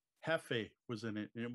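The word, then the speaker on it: Jefe: Hefe was in it, and it was about luchador wrestling. And there were little belts that came with. El Hefe? Hefe.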